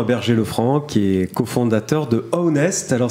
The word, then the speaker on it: Ownest: Et aujourd'hui, nous recevons Clément Berger-Lefranc, qui est cofondateur de Ownest. Alors ça s'écrit O-W-N-E-S-T. En fait, c'est une contraction de to own, en anglais posséder, et honest, l'honnêteté.